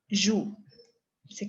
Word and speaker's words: joues: Entonces, recuerda, je joue, se queda en E, ¿ok? Tu joues, le agrego la S. ¿Cambié la pronunciación? No. Joue, ¿ok?